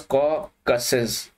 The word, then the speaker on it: Caucasus: range and that is caucus mountain ranges or it is being pronunciated as caucuses Caucasus Mountains see your